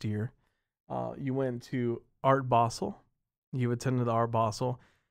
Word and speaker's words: Basel: I've been saying Basel forever. And the way it's spelled, you would think it would be Basel too. So yeah. Yeah, but it's like, it's European or German or something. So it's Basel.